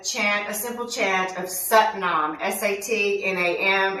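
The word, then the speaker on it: Sat Nam: a simple chant of satnam s-a-t-n-a-m it's pronounced like s-u-t nom we're going to say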